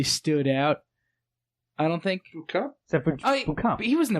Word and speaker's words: Beauchamp: May I just say, I think Boucamp is the correct way to say it, but they pronounce it Beauchamp the entire time.